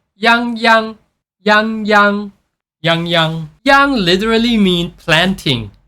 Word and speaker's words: Yangyang: like Yang Yang but you have to pronounce it as Yang but with higher pitch so it's going to sounds like yangy yangy yangyang Yang literally mean